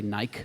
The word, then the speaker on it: Nike: So a footwear examiner might be just trying to say it's this Nike model, or as the Brits say, Nike.